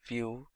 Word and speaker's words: Vue: complete web application solution vue.js is commonly referred to as view and pronounced as vue.js